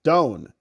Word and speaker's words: Dawn: Rob for the record the A and the E are silent in Dawn bone Don rhymes with bone D I'm going to